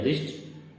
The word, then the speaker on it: wrist: इसी प्रकार अगला वर्ड है रिस्ट, WRIST, लेकिन इसमें W से कोई मतलब नहीं है, उसको साइलेंट रखा गया है, केवल R से ही पढ़ा जाता है।